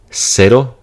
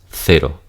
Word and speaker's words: cero: It's just pronounced like an S. Versus differentiation, there will be a lisp here. So for example, cero versus cero.